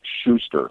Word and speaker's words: Schuster: sure you were close my name is Schuster Schuster Schuster okay thank you and I apologize